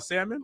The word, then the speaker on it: salmon: You can pronounce the L on salmon? No.